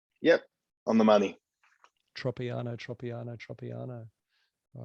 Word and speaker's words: Tropiano: fresh that's for sure and your last name pronunciation tropiano yep on the money tropiano tropiano tropiano all right make sure this thing's